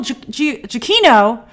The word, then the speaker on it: Giacchino: Secret Wars and Michael jokino somebody told me I was mispronouncing it wrong mispronouncing Michael jokino I looked up an interview with him and he said they said Michael jokino so I apologize if